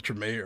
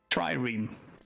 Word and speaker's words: trireme: We also have the Tremay, or the, how do you pronounce this? Trireme.